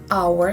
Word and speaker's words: hour: For example, the word an hour. The word our starts from the consonant letter h but sound uh there is no sound h here. We pronounced our so the first sound is vowel sound.